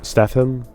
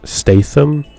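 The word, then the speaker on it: Statham: Stethm. Is that how you say it? Stethm. He is an actor. Jason Staith Stath Staithm.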